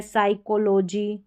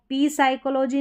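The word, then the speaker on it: psychology: यह ध्यान रखें अलग से यहां पर पी साइलेंट है। यह भी नियम है। साइकोलॉजी इसको पी साइकोलॉजी नहीं पढ़ेंगे।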